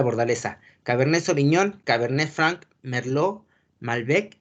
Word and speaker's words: Merlot: es la cabernet sauvignon la uva merlo se escribe merlot pero la que no se pronuncia merlo cabernet sauvignon merlot cabernet